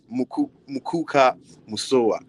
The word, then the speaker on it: Mukuka Musowa: Muk Muka Musawa. I hope I got that pronunciation right.